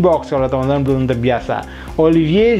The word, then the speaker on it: Olivier: Dibaca Olivier Giroud karena alfabet V itu dibacanya V.